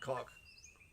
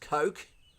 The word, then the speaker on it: Coke: see if I want cock. And you go, mate, let me tell you for starters, I'm gonna remind you that it's pronounced Coke.